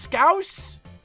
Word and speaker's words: Scouse: Like mouse. Scouse? It's pronounced Scouse?